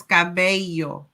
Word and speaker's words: cabello: How do we pronounce hair? Hair is cabello.